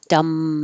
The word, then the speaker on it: dumb: The B is silent, so you're really connecting the M. Dumb man.